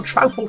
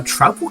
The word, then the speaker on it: Troupple: All hail the Troupple King. Who? You've never heard of the Troupple King? Half trout and half apple, pronounced like mouthful.